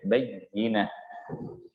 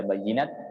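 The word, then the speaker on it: بَيِّنَة: Huruf ta di sini ta marbutah itu dirubah untuk mempermudah pengucapannya dan memperindah pengucapannya, makanya dirubah menjadi huruf ha. Bayyinah. Kalau kita baca bayyinat itu tidak keindahannya beda dengan ketika kita menyebutkan bayyinah. Kalau kita baca ta'tiyahumul bayyinat,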